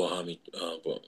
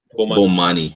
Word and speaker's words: Bomani: One of the Bohami. How do you pronounce his name? This Bomani. Bomani Jones from again.